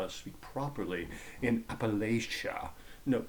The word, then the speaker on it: Appalachia: and such, especially in the rural parts of Appalachia. The And it, by the way, is pronounced Appalachia, not Appalachia.